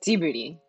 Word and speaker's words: Ghibli: guess technically speaking um if you're referring to the studio by miyazaki it's t-booty and i feel like it's like the gif versus just debate i go with jif um but yeah so it has like almost like a j sound if you're trying to pronounce it like miyazaki does but honestly i don't